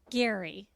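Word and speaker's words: Gerry: But no, we're talking about the very first Golden Bachelor, Gary. That's spelled G. Spelled like Jerry. But he's Gary.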